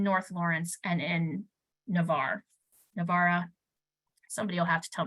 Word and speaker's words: Navarre: or more in North Lawrence and in Navarre Navara somebody will have to tell me some time how to pronounce that we got it Navarre thank you thank you um shifting again to